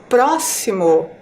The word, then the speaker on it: próximo: a palavra sorteada Foi próximo então percebam lá ao falar a palavra próximo a sílaba mais forte é a sílaba pro e ela está ali